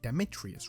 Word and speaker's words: Demetrius: Demetrius, right?